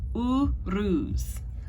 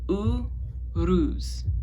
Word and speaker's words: Uruz: All right, our next one, here we go, is Uruz. Now, I always roll my R's. It's something I've always been doing since technically I learned how to speak Spanish, just un poco. But it's Uruz.